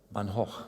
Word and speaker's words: Van Gogh: And yes, today we have AIs that can paint new drawings in the style of Van Gogh. Van Gogh, that's the correct way of pronouncing it.